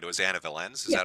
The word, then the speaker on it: Anna Valens: It was Anna Valens.